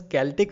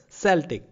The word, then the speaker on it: Celtic: in different ways but actually here the c is being replaced by k in pronunciation okay so it is pronounced as celtic rather than celtic so prior to this